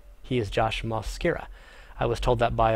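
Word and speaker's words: Mosqueira: an o in the with an O instead of an a that would be the first a not the second a which would be Josh Mascaro he is Josh moscara I was told that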